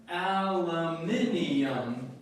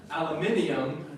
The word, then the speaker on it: aluminium: Both of y'all pronounce it like the British expression. Aluminium. Aluminium. I pronounce it aluminum. Aluminum. Not a big deal. Americans know both.